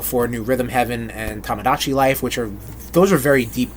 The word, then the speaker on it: Tamagotchi: Tom. Like Tamagotchi. Goat. Exactly. And then chi, like Tai Chi.